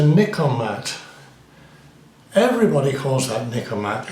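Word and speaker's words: Nikkormat: this is a niik mat everybody calls that nikomat n i k k o r m a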